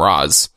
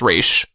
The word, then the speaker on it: Ra's al Ghul: You know, like the Nolan movies, they call him Ra's. Ra's al Ghul. Yeah. But if you watch, like, the animated series, it's Ra's. So, I don't know.